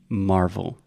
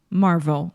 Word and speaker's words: Marvel: h Marvel Marvel yeah it's almost like Marble Marble is mAh that's what saying yes except with a Marvel Marvel perfect okay okay Disney even